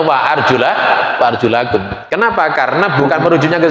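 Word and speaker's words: وَأَرْجُلَكُمْ: Bahkan ijma di kalangan sunnah, ahli sunnah wal jamaah, semuanya imam-imam qiraat membaca ayat ini boten dibaca wa arjulikum. Semuanya membacanya wa arjulakum.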